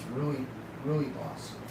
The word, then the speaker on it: Rooibos: So I was pronouncing it wrong. It's Rooibos.